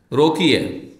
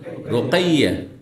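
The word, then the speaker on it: Ruqayyah: রোমাইসা কি বলবেন রোমাইসা যেমন আমার দেশে রোকিয়া রোকিয়া বলেন রোকিয়া নাম কি নাম রোকাইয়া বলছেন তারপরে আর আমি পথ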